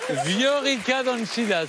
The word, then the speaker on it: Viorica Dăncilă: Viorica Dăncilă, c'est ça? Très bien prononcé, c'est ça.